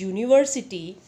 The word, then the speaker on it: university: The words university and European begin with vowels U and E, but both these words are pronounced with the U sound, which is a consonant sound.